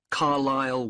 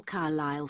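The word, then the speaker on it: Carlisle: 45 Carlile Way. Could you spell Carlile for me? Sorry. It's C A R L I S L E. You don't pronounce the S. Carlile Way and that's in Lewis.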